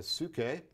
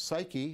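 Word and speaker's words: ψυχή: is the lodestone a su ke and this is important because this word su ke which we now pronounce psyche is going to be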